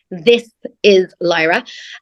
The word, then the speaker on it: This Is Lyra: I know I'm really bad at pronouncing my THs, but it's This Is Lyra.